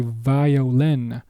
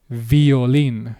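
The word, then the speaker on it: violín: Now notice that this is written in the same way as English too but the way is pronounced is different because the flaring and bending of the vowels right you would say violin violin. In Spanish though it is violin.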